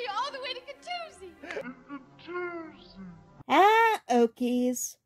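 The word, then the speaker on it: Catoosa: They'll hear you all the way to Katoosie. Okies. When we pronounce Miami as Miami, and Katusa as Katusi, because science or something.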